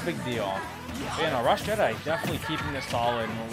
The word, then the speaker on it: Rassjedii: Yeah, Rassjedii.